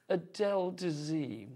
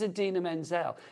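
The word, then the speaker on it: Idina Menzel: actually say her name so he introduces her as the wickedly talented and then he just goes Adele de and it's like her name is Adena Menzel it doesn't even sound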